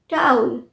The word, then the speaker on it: towel: या आज बड़े लोग भी बोलते हैं, मेरा टॉवेल दे दे नाना। TOWEL, टॉवेल नहीं। अभी तक हम यही बोलते हैं, टॉवेल नहीं है, टाउल, टाउल।